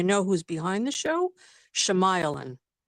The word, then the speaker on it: Shyamalan: Shyamalan. My cousin? Shemailan? Hey, Shemailan. I was no, I'm just messing. What a But twist. yeah, That's fine. Yeah. No, I always say his name wrong. Shyamalan.